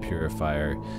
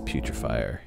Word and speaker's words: putrefier: Sorry, I'm so used to calling it purifier. I've been corrected so many times by different people. It's putrefier. No, I just say it wrong.